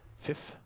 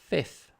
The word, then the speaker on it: fifth: Fifth. Yeah. Yeah, because that's how we write it. So, so okay. So you just don't pronounce the T and the H, kind of. No, you do. That's the. Fifth.